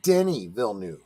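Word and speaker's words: Denis Villeneuve: the be before we even went live it's Denny vnu right Denny VN yes okay so so some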